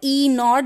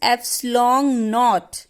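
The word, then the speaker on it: ε₀: 1/4 पाई एप्सिलॉन नॉट. Remember this is नॉट E नॉट, this is एप्सिलॉन नॉट. एप्सिलॉन नॉट बोलते हैं इसे, और एप्सिलॉन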